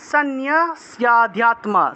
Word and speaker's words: সন্ন্যস্যাধ্যাত্ম: তারপরে 30 নম্বর, ময়ি সর্বাণি কর্মাণি, ময়ি সর্বাণি, সর্বা উচ্চারণ হবে, সর্বা, ময়ি সর্বাণি কর্মাণি সন্ন্যস্যাধ্যাত্ম, সন্ন্যস্যা দন্ত্য নয় জফলা, তাহলে নিয় উচ্চারণ হবে, সন্ন্যস্যাধ্যাত্ম চেতসা নিরাশির নির্মমো